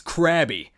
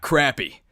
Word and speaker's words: Krabby: to say about crabby make sure to pronounce it right it's crabby not crappy you can catch it